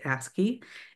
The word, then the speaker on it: ASCII: And the American standard for information interchange, which is called ASCII, you'll be hearing, you know, abbreviation, the way it is pronounced is ASCII, and it assigned each letter a binary code.